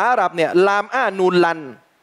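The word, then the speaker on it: لن: เนี่ย ลาม อ้า นูน ลัน มี ตัว ลาม มี ตัว นูน เนี่ย ใส่ สล อ้า ใส่ อะไร สูน อ่าน สะกด เข้า กับ ตัว นูน เนี่ย ลาม อ้า นูน อ่าน ว่า ลัน คำ ว่า ลัน เนี่ย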